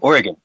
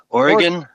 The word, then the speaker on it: Oregon: Uh, if you ask any local in Oregon, they'll say it's pronounced like oregano.